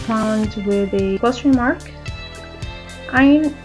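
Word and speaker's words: ع: Ain also has no equivalent in English. It has the pronunciation of a. Ain is pronounced with the central throat. Try to pronounce it. Ain, a, a. Please notice that it is not a, it is a.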